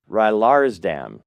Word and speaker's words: Rylaarsdam: And Michaela her her last name is a little difficult to pronounce, but it is Michaela Rylaradam.